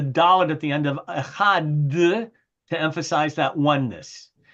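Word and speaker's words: אחד: the final word of echad. Shema Yisrael Adonai echad. And so, I don't know, do any of you know that it's customary to prolong the pronunciation of that last word, echad, or no?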